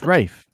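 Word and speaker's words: Ralph: rayfein's performance um it's rafe it's pronounced rafe it's serbian let's look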